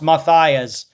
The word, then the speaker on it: Matias: PPS Gail Matias's surname is pronounced Matias.